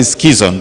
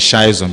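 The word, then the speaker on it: schizont: And then when the hepatocyte can no longer take the schizon, we call it schizon those days, but later I found out that the right pronunciation is schizon because it's a German word.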